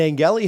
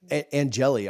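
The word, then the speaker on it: Angeli: lard went out and Angi had to come in angelli I'm sorry I've been corrected on how to say this but when angelli had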